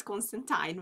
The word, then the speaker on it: Constantine: It was always Constantine because it rhymes with wine.